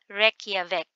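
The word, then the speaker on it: Reykjavík: answer is letter d It's reky vk That's How You Say it so This is reave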